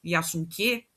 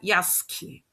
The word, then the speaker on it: Yasuke: O nosso em japonês, por exemplo, Yasunke, que aqui é da lenda do Yasunke, não se pronuncia assim, se pronuncia Yasuke. O U é mudo.